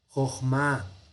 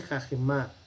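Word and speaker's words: חכמה: Alguien podría decir, no, ahí dice jajemá. No, esta es una sílaba cerrada. Entonces este kametz, ay Dios, es un kametz hatuf. ¿Ya? Entonces es una O. Joj se cierra aquí. Joj ma, sabiduría.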